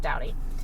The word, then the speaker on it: Staudte: So the our victim's name was Mark Allen Stouty. That is spelled Staudte. Yes. So kind of a strange spelling, but it's pronounced Stouty.